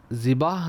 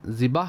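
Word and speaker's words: ذبح: করেছি এমনটাই ধারণা হচ্ছে জিবাহ যে শব্দ রয়েছে জিবাহ শব্দের অর্থ হলো যে পশু জবেহে করা হয়েছে আর আমরা যাকে জিবাহ বলে থাকি তা জিবাহ নয় সেটা হলো জবাহা মূল উচ্চারণ হল জাবাহা সাল্লু আলাল হাবিব সাল্লাল্লাহু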